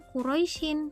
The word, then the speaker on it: Quraisy: Kalimatnya Quraisyin di dalam Al-Quran, namun dibacanya Quraisy.